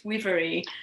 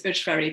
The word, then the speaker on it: Ujvári: She tells me it's Ujvári. I thought it was Ujvári, but anyway, that's my poor pronunciation.